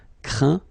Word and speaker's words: craint: Okay, and as usual, final T here is not pronounced, so you get craint, contraint, plaint.